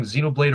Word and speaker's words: Xenoblade: It's like saying Xenolade or Zenoblade, such as Bridg.